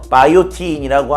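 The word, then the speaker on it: biotin: 영어로는 B-I-O-T-I-N, 그래서 바이오틴이라고 하는 게 영어식 발음인데, 비타민이에요.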